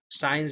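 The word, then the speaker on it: scienza: এস সি ই, উচ্চারণ হবে সি। যেমন আমরা সায়েন্স যেমন লিখি, সায়েন্স, এটাকে তারা বলে সিয়েন্সা, ঠিক আছে?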